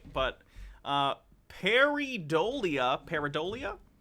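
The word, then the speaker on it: pareidolia: know if he pronounced it right but uh peridolia peridolia periadolia someone correct me anyway uh is a phenomenon where human beings will seek out unintentionally uh paradolia okay cool so paradolia is basically you look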